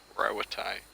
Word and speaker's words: Rauatai: Rauatai, so that's how you pronounce that.